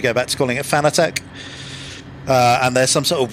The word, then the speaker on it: Fanatec: is, honestly, they call it, they pronounce it Fanatic, right? But anytime I mention it as Fanatic in videos, people get really upset and tell me to go back to calling it Fanatec.